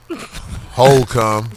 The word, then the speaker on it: Holcomb: HOLE COME. I DIDN'T DEBAUCHLE IT. IT'S STILL THERE. IF that's it, that's how you say it.